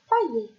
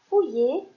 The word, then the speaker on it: fouiller: e r premier mot est-ce qu'on dit fouiller ou bien Failler très bien on dit fouiller et ici on va